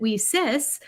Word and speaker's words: WiCyS: w-i-c-y-s we pronounce it we cis like we sisters because that's exactly what we are we are a global